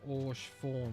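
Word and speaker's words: Haurchefant: Horchi form, pronounced Orsh form with a silent H, is based in French.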